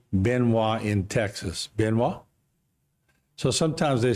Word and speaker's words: Benoit: way you pronounce it it's pronounced benoa yep in the polite manner right yes correct very